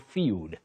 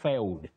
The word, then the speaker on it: field: Isaac Karaoke of Nakuru, you say bold and field, not failed.